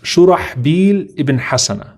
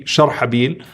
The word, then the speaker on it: Shurahbil ibn Hasana: His name is pronounced Shurahbil ibn Hasana. Shurahbil ibn Hasana, radiyallahu ta'ala anhu. And it can also be Sharhabil, according to some of the scholars.